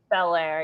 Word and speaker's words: Belair: Belair, yeah.